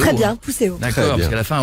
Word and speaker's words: Pousséo: de Fer dans Viking, Dorothée Pousséo, je le prononce bien, c'est bien Pousséo. Très bien, Pousséo.